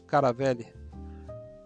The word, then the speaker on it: Caravelle: o sul da Viação caravele no Brasil nós pronunciamos Caravelle e essa belíssima maravilhosa